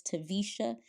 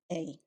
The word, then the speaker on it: Taversha: Again, my name is Taversha, and it's spelled Taversha. Yeah. How many syllables is that, Taversha? 3 syllables.